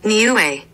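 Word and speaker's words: Niue: a island country new n i u e hold on I meant to get this pronunciation New Way new way I was close new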